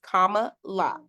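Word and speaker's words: Kamala: on CNN and the lady was calling her name wrong and I was like oh no let me get this right it's Comm La Comm La so um there's this movement we're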